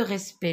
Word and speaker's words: respect: jeunes à prononcent pas je ne prononce pas cette lettre le respect cela vient